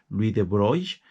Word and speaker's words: Louis de Broglie: que me parece que la pronunciación original es algo así como Louis de Broglie, que le dieron el